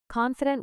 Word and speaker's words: confident: Confident with stress on con.